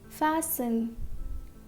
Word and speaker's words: fasten: So this T is silent. It is listen. It is not listen, it is listen. Next, christen, christen. Fasten, fasten.